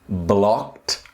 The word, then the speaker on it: blocked: It's another very important word with the T pronunciation. I'm blocked by.